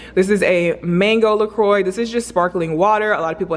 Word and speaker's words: LaCroix: A lot of people think that it's pronounced LaCroix and it's not, it's LaCroix. This is a mango LaCroix.